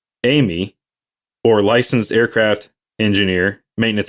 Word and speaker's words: AME: aircraft maintenance engineer in ame pronounced amy or licensed aircraft engineer